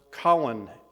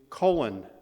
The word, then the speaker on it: Colin: of world war ii would change how powell pronounced his name prior to world war ii powell's first name was stanley pronounced colin in the british and jamaican but when colin p kelly posthumously received the distinguished service cross for attacking a japanese battleship he became colon of kelly street unlike his older more